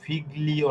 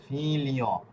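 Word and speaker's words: figlio: যেরকম ফি লি, এরপরে হচ্ছে অ, এখানে এটা কিন্তু ফিগলিও না, এটা হবে ফিলিও।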